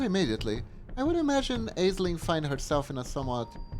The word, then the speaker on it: Aisling: Aisling is pronounced Aisling. It is an Irish name.